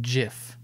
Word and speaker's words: GIF: they said it's pronounced jif like but it sounds ridiculous because it sounds like the peanut butter that's part of it